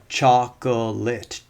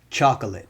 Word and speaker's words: chocolate: Same thing happens with words like chocolate, chocolate, right? That's three syllables. But the middle syllable here is a schwa, so it can be dropped, and then we move to two syllables. Chocolate, chocolate.